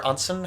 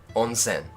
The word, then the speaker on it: onsen: pronounced ring yeah yeah it's super easy to pronounce Japanese words a is always uh he is always a I as always e o is always o ownsome onsen onsen okay yes sorry